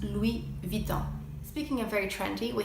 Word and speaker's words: Louis Vuitton: at the beginning of the word you don't pronounce it another iconic and trendy fashion house is Louis Vuitton Louis Vuitton Louie Vuitton de lavit une it's actually pronounced Louie Vuitton speaking of very trendy we have Celine also